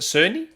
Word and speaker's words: Cerny: ever met mark cerney is it cerny it is pronounced soon it is sonny yeah yeah uh have